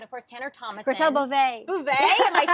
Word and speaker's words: Beauvais: you're working with Ross Matthews and Garcelle Bouveau, and of course Tanner Thomason. Garcelle Beauvais.